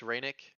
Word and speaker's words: Rennick: Is it pronounced Reynick? Rennick, yeah.